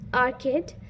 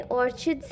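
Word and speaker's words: orchid: आर्किड को मैंने ऑर्चिड्स ही पढ़ा था, और मैं वही अपने चैनल को बोलती हूँ, ओके।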